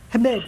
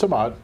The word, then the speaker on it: Hamad: Hamid, right? That's how you say his name? I thought it's Hamad. Hamad. It's Hamad. Hamad, I'm sorry.